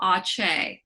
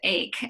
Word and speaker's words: ACE: an approach i call aceh so and it's based on janet bennett and other people's research but um they don't use that acronym and i like to just pronounce it ace instead of ache ache doesn't sound very